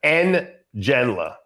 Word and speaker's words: Ngenla: And it's pronounced Ngenla.